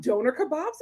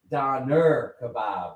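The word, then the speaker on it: doner kebab: Do they have donor kebabs in LA? We should try it and review it. Donor kebab. No, she said it's a donner kebab. We're saying IT WRONG.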